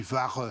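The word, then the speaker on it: Wache: du mot allemand dit vare c'est la la sentinelle le CH allemand se prononce r alors les Français ne l'entendent pas comme ça ils le voi écrit ch donc il prononce vache et par hostilité bien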